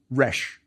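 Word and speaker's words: rš: It has two determinatives, so the only thing we have to worry about are the first two alphabetic hieroglyphs, R and SH. So, it's pronounced rash.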